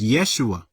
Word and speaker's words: Yeshua: J works because that's pronounced ysep and it's pronounced Yeshua it's pronounced it's not Jesus it's Yeshua which